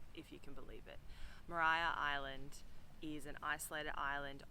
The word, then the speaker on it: Maria: But I've read a little bit and apparently Americans pronounced it Mariah and that's what stuck. if you can believe it. Mariah Island is an isolated island off the coast um of Triabana.